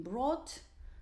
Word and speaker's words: brought: So the orange color, it is this GHT, yeah, this very interesting letter combinations which are actually not pronounced, because we say bring, brought, brought, buy, bought, bought,